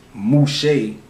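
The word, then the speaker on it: Moshe: spells his m-o-y s-e-s or as some hebrews pronounce it mushay has derived from the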